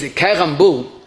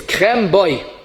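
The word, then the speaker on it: קרמבו: Kerambu. It's not kerambu, it's krem boy. Krem is cream in Hebrew, and boy is in it.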